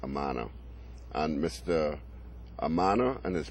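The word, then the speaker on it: Amanat: We eventually started negotiations with a funding group headed by Mr. Omar Amana, O-M-A-R-A-M-A-N-A-T, pronounced Amana.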